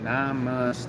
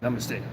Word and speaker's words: namaste: Namaste is 3 syllables that's supposed to be said as one. I never said it right. I was like, namaste. It's supposed to be namaste. Like, it's supposed to, like, namaste. It's supposed to be as like one breath or whatever.